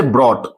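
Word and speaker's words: brought: इसी ढंग से फॉट, फॉट, फॉट में लड़ाई करना, तो यहां हम लोग देख सकते हैं इसका प्रोनाउंसिएशन फॉट। इसी ढंग से ब्रॉट, ब्रॉड, ब्रिंग का सेकंड फॉर्म यहां हम लोग देख सकते हैं ब्रॉट।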